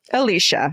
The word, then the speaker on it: Alicia: Alicia, pronounced like Alicia Keys.